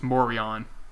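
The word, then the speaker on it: Morejón: It's Morion. Don't ask why. It's Adrian Morion. That's how you say his name.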